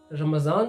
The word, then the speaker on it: रमज़ान: हम उर्दू में फ़ारसी में इसको द्वात को ज़वाद या जेड के मानी में इस्तेमाल करते हैं, इसको प्रोनाउंस करते हैं जेड के मानी में, इसलिए रमज़ान बन जाता है।